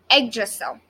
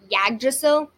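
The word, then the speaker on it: Yggdrasil: which is and just a drizzle oh yeah egg drizzle that's how you pronounce it it's but with the ygg but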